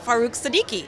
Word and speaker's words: Farrukh Siddiqui: Appley Health, and I'm very excited to meet Farrukh Siddiqui. Yes, thank you. Did I pronounce that correctly?